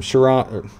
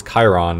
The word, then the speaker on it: Chiron: We've got some Chiron aids. I've been told that it's Chiron, and I used to call it Chiron.